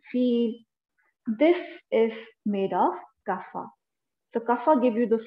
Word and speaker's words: Kapha: Kapha, Kapha. The pronunciation is Kapha.